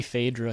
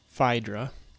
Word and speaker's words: Phaedra: However, I know in Latin, the diphthong AE is pronounced like the beginning of the word isle in English.